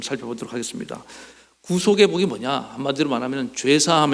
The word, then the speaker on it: 구속: 죄사함 에 복입니다 그이 구속이란 이제 좀 발음을 좀 잘 해야 됩니다 9 속하며 는 사람이 이렇게 뭐 감옥에 구속됐다 된다는 그런 뜻이고 그리고 조금 길게 구속 구속 인데 에 이 영어로 하면